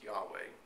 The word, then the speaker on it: Yahweh: study of many scholars it's agreed upon that the name was actually intended to be pronounced as Yahweh um you know there